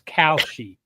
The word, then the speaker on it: Kalshi: And It's KAL, so it's Kalshi.